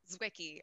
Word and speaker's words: Zwicky: Zwicky. I say it multiple ways myself. So however it gets out of your mouth is fine. Zwicky is phonetic.